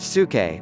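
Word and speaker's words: ψυχή: is from the Greek word P su ke pronounced su ke which means soul by the way my minor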